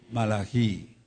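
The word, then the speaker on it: מלאכי: ¿Cómo se dice realmente el original de Malaquías? Malají, mi mensajero.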